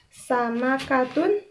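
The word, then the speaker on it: سَمَكَةٌ: Nah, ini dari huruf sin ya, dari huruf sa ya. Dari sa, sama katun. Nah, dibacanya sama katun ikan.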